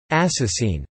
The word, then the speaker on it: asasin: principle a sassy singular and assassin pronounced ass Essene plural literary variation as well